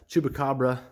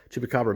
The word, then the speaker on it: Chupacabra: i went with some chubacabra i can't ever pronounce that right chupacabra mirrors love this actually